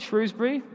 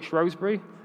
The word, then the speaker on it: Shrewsbury: one really knows the I call it Shrewsbury others will call it shury whichever side you pick someone will tell you that you've said it wrong and will correct you to the other way um it's an argument